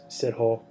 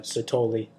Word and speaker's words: Sithole: surprise his last name i say it's sid whole but they they call it they pronounce it uh sotoli um so but yeah